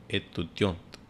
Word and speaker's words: étudiante: In the last T we pronounce for female student. Je suis étudiante.